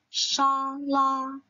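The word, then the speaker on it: 沙拉: Shala ini merupakan kata serapan dari bahasa Inggris, teman-teman. Karena kita bilangnya salad kan, jadi kita mengambil pelafalannya dari bahasa Inggris. Sehingga kita lafalkan shala, shala, yaitu salad.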